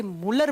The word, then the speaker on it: Mulder: इसकी खोज की थी मुलर नाम के साइंटिस्ट ने, MULDER, लेकिन इसको प्रोनाउंस करते हैं तो डी साइलेंट हो जाता है, इसे मुलर बोल दिया जाता है।